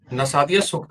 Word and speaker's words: नासदीय सूक्त: नासदिया सूक्त. ओह, आप जिस चीज की बात कर रहे हैं वह वेदों में वर्णित नासदीय सूक्त है ; आप नासदिया सूक्त का सही उच्चारण नहीं कर रहे हैं, जैसा कि हम...